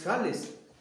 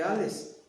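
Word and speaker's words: Hales: de Alejandro de Jales, porque se escribe con H y es germano, es Jales. Unos dicen Alejandro de Ales, Alexander de Ales, o von, no, hasta lo dicen en alemán.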